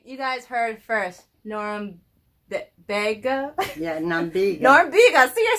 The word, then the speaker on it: Norumbega: Okay, because I like to call it Norumbega, like Lubega. That's not right. Norumbega.